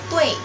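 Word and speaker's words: 对: Jadi contohnya itu ada DUI artinya betul, dibacanya tui. Ui, tui.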